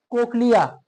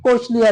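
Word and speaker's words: cochlea: कोकलिया भी कह सकते हैं, कोचलिया भी कह सकते हैं, बाज प्रोफेसर कहते हैं इसको कोचलिया, प्रोनाउंसिएशन में कोई मसला नहीं है। अगर इसको कोकलिया कह दिया हम भी ठीक है, ठीक, अगर नहीं तो कोचलिया भी ठीक है।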